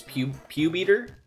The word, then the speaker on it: Pupitar: mandela effect for you was pupitar originally green his name is pew beater no though i guess that phonetically makes sense you have a poor